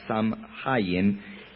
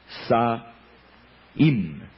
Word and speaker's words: Samhain: Por cierto, en idioma celta no se pronuncia Samhain, sino que se pronuncia Saim, el dios de la muerte.